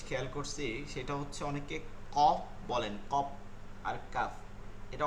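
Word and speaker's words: قاف: তারপরও ওইখানে গিয়ে বলতেছেন কপ কাপ এগুলো একটু খেয়াল করতে হবে কপ কাপ না কি হবে কফ কাফ আপনি যেহেতু শুদ্ধ করে পড়তেছেন হরফের উচ্চারণটা শুদ্ধ করে পড়তে হবে তাই না কফ কাফ কফ কাফ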